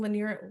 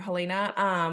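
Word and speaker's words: Helaena: Lanier, how do you say her name? Elena, thank you, Helena.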